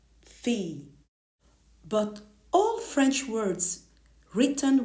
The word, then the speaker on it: fille: Here it is written with double L, fille, fille.